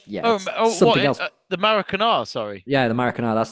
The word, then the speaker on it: Maracanã: Even my uncle, who doesn't like football, went and saw a match at Maracana, and was like, something else. The Maracanã, sorry.